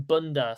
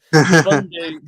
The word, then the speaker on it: Bundu: But I'm going to let you talk about now Bob Bundu, Liam, or other people's accidentally calling him Bunda. So well done. You're getting his name wrong. But Bundu, one player that we're